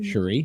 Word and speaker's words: Cherie: ah Sheree's gonna be with us did I pronounce it right this time Cherie yes you did that's perfect thank you curry